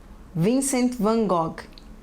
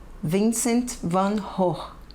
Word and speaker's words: Vincent van Gogh: Pronúncia dos nomes: Renoir, Sisley, Cézanne, Monet, Klimt, Degas, Seurat, Gauguin, Toulouse-Lautrec, Munch, Vincent van Gogh. Vincent van Gogh. Em holandês seria Vincent van Gogh.